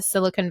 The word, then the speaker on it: silicon: Silicon Valley properly because I was saying it silicone. And he was like, no, girl, like you have to say it silicon. And I was like, okay, so now I can say it properly.